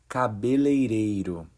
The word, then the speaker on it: cabeleireiro: Hey folks, this video will teach you how to pronounce the Brazilian Portuguese word cabeleireiro. The correct pronunciation is cabeleireiro.